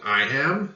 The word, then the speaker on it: iamb: foot it's called an I am that b is silent and the describing word